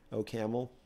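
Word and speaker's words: OCaml: we haven't seen elsewhere racket o camel that's how you should pronounce it anyway these are pop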